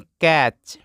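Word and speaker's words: catch: पढ़ते हैं कैस्टोफीन coffee C ए टी सी एच इसको पढ़ते हैं कैच यहां पे टी साइलेंट रहता है सो कैच पढ़ते हैं और कैच का मतलब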